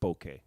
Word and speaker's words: bokeh: Japanese it's like a Japanese camera journalist Boke I think it's Boke yeah it's the proper way of pronouncing it all right uh